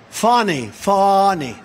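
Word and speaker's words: Fani: And not only that, all these local cases like Fawny. It's spelled Fanny. It's spelled Fanny like your ass, right, Fanny? But when she became DA, she decided to add a little French, a little fancy.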